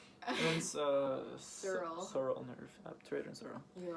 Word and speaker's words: obturator: What was the obstructor? Was it obstructor? Obstructor. It sounds so aggressive. It's obturator. Obturator. Obstructor. Obturator. And then Sural. sural nerve. Obturator and sural.